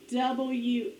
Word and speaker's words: walk: W-A-L-K. What word? Walk. Please walk in the halls. What word? Walk. Rhymes with talk.